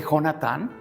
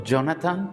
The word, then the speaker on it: Jonatán: Ahora, la importancia de quién era hijo, de Jonatán, o Jonathan para los que quieran pronunciar muy inglés.